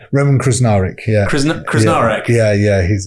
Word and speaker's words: Krznaric: with Roman is it krznarich how do you pronounce his name Roman krar yeah krar yeah yeah he's he's a friend